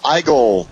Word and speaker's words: Igle: is Rick Osman and I'm here with Jamal igel for invest Comics TV am I pronouncing that correctly Jamal you you got it